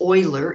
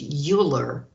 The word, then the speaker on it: Euler: to meet something else euler's function this is pronounced euler even though in english it's pronounced euler but euler is euler because uh this person